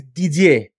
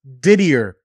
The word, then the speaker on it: Didier: let me tell you my name is di okay it's French there you go exactly in Miami I was diddier oh my gosh I